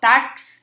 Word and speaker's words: táxi: assim dessa forma chama quando você fala táxi É como se você falasse dessa forma ó táxi certo parece que tem que duas letras aí mas tem uma só